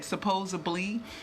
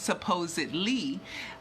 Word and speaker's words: supposedly: you would think that supposably is a black diction but it isn't I've heard people of all different cultures mispronounce supposedly as supposably and I pay attention